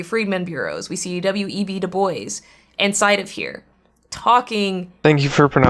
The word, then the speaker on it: Du Bois: Du Bois inside of here, talking. Thank you for pronouncing his name correctly.